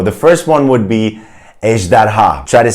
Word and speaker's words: ejderha: The first one would be ejderha. Try to say that. Ejderha. It's a 3-syllable word, and I probably like the J sound and also the ha at the end.